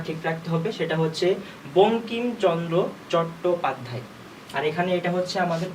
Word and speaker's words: বঙ্কিমচন্দ্র চট্টোপাধ্যায়: প্রথমে আমাদের নামটা ঠিক রাখতে হবে, সেটা হচ্ছে বঙ্কিমচন্দ্র চট্টোপাধ্যায়। আর এখানে এটা হচ্ছে আমাদের উময় ক, এখানে কি আছে এটাকে ভাঙলে পাবো হচ্ছে আমরা উময় ক, ঠিক আছে। এটা হচ্ছে আমাদের উচ্চারণ হবে বঙ্কিমচন্দ্র চট্টোপাধ্যায়।